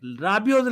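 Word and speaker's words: Rabiot: midfielders to overlap yes I'm saying it right rabio's left foot and remember and he has to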